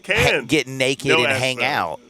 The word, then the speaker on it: Cannes: That's right, Cannes. Get naked and hang out. But you don't pronounce the S.